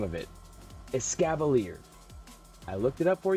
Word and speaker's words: Escavalier: gonna pull it out here i could not pronounce the name of it escavalier i looked it up for you guys because i felt really dumb as scava leader so if i pull him again not getting